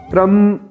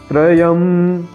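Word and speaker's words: त्र्यम्: तो कुछ लोगों को मैंने सुना है कि वह त्रम ऐसे पढ़ते हैं, य का उच्चारण करते ही नहीं। तो हमें बोलना क्या है, त्रयम त्रयम।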